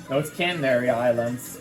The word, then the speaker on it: Canary Islands: Oh no, it's Canary Islands, which I did went to on vacation, of course, multiple times.